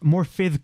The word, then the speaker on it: Morfydd: Morfydd Clark is how you pronounce it, because I think her name is Welsh.